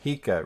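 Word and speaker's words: Hiya: a Japanese symbol for pronounced hia rhymes with Pika as in Pikachu I learned that from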